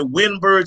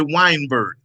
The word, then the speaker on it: Weinberg: all say it right some people may say winburg some people say weinberg yeah weinberg is fine i mean you can